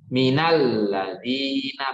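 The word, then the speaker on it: مِنَ الَّذِينَ: Minal ladina. Bacanya begitu, tapi itu ada dua kata, min dan alladina.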